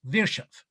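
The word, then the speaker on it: Virchow: one is a german rule of love vikar virshov and by the way is pronounced virshav and vishov is a genius in medicine because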